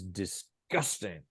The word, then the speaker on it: disgusting: stress within the word so you have to stress the right syllable in the word so we'd say puke is disgusting yeah okay second syllable isn't it disgusting there